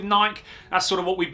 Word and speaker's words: Nike: last couple of weeks, or Nike if you're this side of the pond, that side of the pond, depending on how you want to pronounce it. But I'm going to stick with Nike.